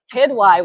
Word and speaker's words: Quidwai: Sabba, and I'm going to say it right, Quidwai with me, because I've been pronouncing it wrong this whole time.